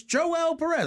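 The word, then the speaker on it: Joel Pérez: personal names because I it's spelled Joel Perez, but I'm like he's Puerto Rican and also so when I looked up some interviews, he's like it's Joel Perez.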